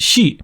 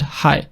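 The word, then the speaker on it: 係: For example, this character meaning to connect in standard Chinese, in Mandarin it's pronounced shi, but in Cantonese it's read hai, and can be used to mean to be, the same as shi in standard Chinese.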